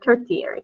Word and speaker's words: tertiary: Because it doesn't look like the T it looks like tertiary, right? Yeah. That's one of those fun words that doesn't sound like the way it's spelled.